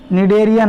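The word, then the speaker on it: Cnidaria: दिया था निर्णय लिया नाम जॉन एरिया में साइलेंट रहता है ध्यान रखना नीड एरिया नाम जो है वह दिया था ओके खेल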